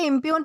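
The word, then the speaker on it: impugn: दोस्तों, इसे इंप्यून प्रोनाउंस किया जाता है जिसका मतलब होता है झूठा ठहराना, आरोप लगाना, गलत साबित करना।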